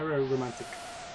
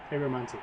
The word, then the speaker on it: aromantic: Aero romantic. Aromantic, that's it.